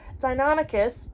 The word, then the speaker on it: Deinonychus: The powerful jaws gave Deinonychus, that's how you say it, Deinonychus a bone-crunching bite, but its serrated backwards pointing teeth were not its main weapon.